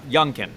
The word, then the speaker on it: Youngkin: virginia uh versus uh youngkin is how you say his name yeah yeah then from